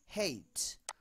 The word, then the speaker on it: hate: হেইট। আমরা কি বলি? আই হ্যাট ইউ। হেট। হ্যাট হয়ে গেল হেইট।